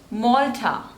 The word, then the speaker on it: Malta: Maldives Maldives next is Malta Malta again two labels and stresses on the first one Malta Malta Malta next